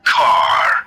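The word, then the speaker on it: KARR: kit which is car be mindful that car here in this case is spelled as k-a-r-r car the knight automated roving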